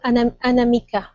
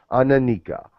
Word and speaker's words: Anamika: And the girl, Anamika. Ananika. Anamika with an M.